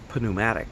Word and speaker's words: pneumatic: When we talk about pneumatic tires, we don't pronounce the P like we do in most Greek-derived words that start with a P.